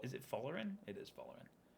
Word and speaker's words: Folarin: Did I just mispronounce Fola Is it Folarin? It is Folarin.